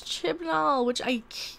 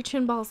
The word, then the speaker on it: Chibnall: Moffat was replaced by Chris Chibnall, wow, I said it right. I didn't say chinballs this time.